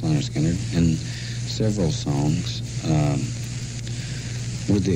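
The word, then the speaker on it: Lynyrd Skynyrd: picked 8 to go on the first one, Pronounced Leonard Skinner, and several songs, with the exception of a couple like Alabama and Working for MCA, which were newer songs.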